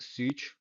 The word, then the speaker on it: Szucs: It's like Martin, like with an underline, Szucs, like pronounced Szucs, 95, the year I was born.